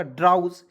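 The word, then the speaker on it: drowse: डी आर को ड्रॉ लिख दीजिएगा, और ओ डब्ल्यू एस ई को उसे पढ़ेंगे उज, मतलब कि आउज। तो आउज मतलब एक मात्रा लगा दीजिएगा ऊ, और यहाँ पे ज लिख दीजिएगा, हो जाएगा ड्राउज। तो इसे क्या पढ़ेंगे? ड्राउज, clear. तो डी आर ओ डब्ल्यू एस ई क्या पढ़ेंगे? ड्राउज पढ़ा जाएगा, ठीक है।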